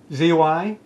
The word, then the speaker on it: zygodactyl: Z-Y-G-O-D-A-C-T-Y-L.